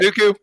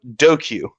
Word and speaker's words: Dooku: Is it just Count Dooku? Okay, so Dooku, right? That's his name, Dooku. Yes. Yeah, that's his name. Yeah, he calls him Doku.